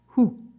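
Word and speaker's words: הוא: like in Hebrew and you pronounce it who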